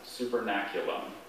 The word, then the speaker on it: supernaculum: Are there any alternate pronunciations? Just the one, supernaculum. I don't think there's anything to triple up here.